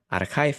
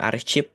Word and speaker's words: archive: arsip dalam bahasa Indonesia ada yang tahu enggak pronunciation-nya seperti apa yang ini nah ini itu adalah archive ya jadi jangan teman-teman bilang Arip gitu terus kamu yakin itu Arip pronciationnya Iya